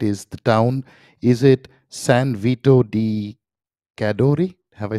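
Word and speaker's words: San Vito di Cadore: of greenwich correct me if i get this pronunciation right is the town is it san vito di cadori have i said it right yeah yes perfect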